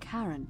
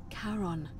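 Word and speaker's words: Charon: it's just as you described it only your pronunciation is a little off the name you heard wasn't Karen it was c h a r n as in Caron the ferryman of the Dead foreign I checked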